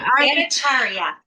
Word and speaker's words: Bhattacharya: Oh my gosh, I said it wrong again. Say it for me one more time. Bhattacharya. One more time. No one ever gets it right. Not a big deal. I know, but Bhattacharya. Yes.